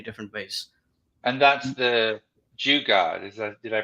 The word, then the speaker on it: jugaad: ingenious in many different ways and that's the jugaad is that did i pronounce that right exactly and that's that's actually